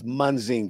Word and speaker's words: Munzinger: It's Munzinger. Munzinger, excuse me. Had Munzinger. you attended the classes that you had there, you wouldn't know how to pronounce it.